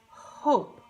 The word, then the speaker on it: hope: It's with the silent E, as in hope, hope. This is a long O because this E is at the end and therefore is silent. Hope.